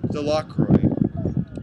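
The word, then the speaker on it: Delacroix: Jones and Dicky delro the villagers pronounced this name delro eventually made a great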